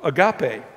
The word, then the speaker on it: agape: The one that John uses here is the highest form of love, agape. When you use the word agape, A-G-A-P-E is how it's spelled in using the English letters.